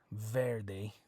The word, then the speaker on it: verde: softer than a normal B sound but Verde okay it's not V Verde Verde okay what are the two